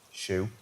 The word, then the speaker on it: SHU: the special housing units Shu pronounced shoe had their cases re-examined